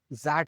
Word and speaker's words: XAT: अच्छा तो कैट हमें लगा जैट, Z मतलब ZAT। नहीं कैट Why is he pronouncing it like that? कैट जैट ऐसे ही बुलाया जाता है।